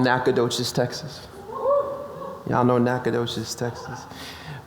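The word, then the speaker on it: Nacogdoches: n this is SFA or as I so cunningly say naok does Texas because that's how it's spelled with a G and then a d and CH H right yeah whatever cool the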